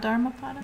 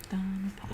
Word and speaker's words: Dhammapada: Not Dharmapada? No, Dhamma is how it was written in Pali, which is the language that Buddha spoke. Dhammapada.